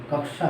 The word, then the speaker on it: कक्षा: कक्षा का सही उच्चारण कक्षा है, कक्षा, है ना।